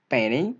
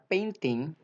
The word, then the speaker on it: painting: pronunciation practice, ya, bahwa kata painting ini bisa dibaca painting, ya, a good painting, ya, bukan a good painting, tapi a good painting, ya. And, ya, and ini kalau T ini bisa silent letter atau bisa tidak dibunyikan ketika dia berdampingan atau sebelumnya ada huruf N. Ya, ingat, ada huruf N sebelum T, T-nya bisa silent.